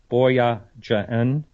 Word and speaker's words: Boyajian: And Tabitha, I'm going to try to pronounce her name right, Boyajian, very similar to that.